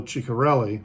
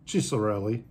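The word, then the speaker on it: Chiccarelli: sometimes the doubles uh the double c's in italian are sometimes pronounced as s maybe or uh or maybe they are pronounced as a hard c anyway it's also a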